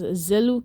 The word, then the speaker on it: Zeluke: Also, some of my friends pronounce it as Zeluke. It's Zeluke.